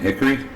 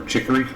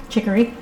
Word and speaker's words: chicory: So today we're drinking coffee and hickory, or chicory. I always mispronounce it. Chicory.